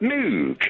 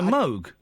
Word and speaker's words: Moog: no it isn't because it's from Rob Robert Moog no it's Robert Moog no it's robertt moo because the phonetic for his name is m o u what the phonetics for his name is m o u g yes so MOG no that's moo no Moog is m o OG which is how it's spelled yes yes but for NE